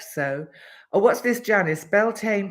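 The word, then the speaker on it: Beltane: Janice Beltaine pronounced Belton.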